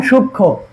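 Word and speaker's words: সূক্ষ্ম: এরপরে আমাদের চার নাম্বার যুক্ত বর্ণ সঙ্গে সংযুক্ত মফলা উচ্চারণ হয় না এবং উক্ত ব্যঞ্জন নাসিক্য নাসিক্য উদ্বাদিত হয় যেমন সূক্ষ দেখ এইযে দেখ সূক্ষ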